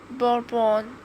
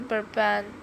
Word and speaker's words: bourbon: You know, it's often pronounced bourbon, but actually it's a softer burban.